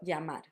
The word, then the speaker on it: llamar: you want to say, I think the easiest way for English speakers is normally to say it as a y. So llamar, llamar, llamar, llamar, all with the same sound / letter.